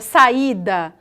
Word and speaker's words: saída: Observem a palavra saída, ok? O I, ele não é pincelado, ele é pronunciado de uma maneira tão forte quanto o A.